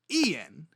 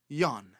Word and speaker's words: Ian: So his first name is not pronounced Ian, but it is pronounced Jan.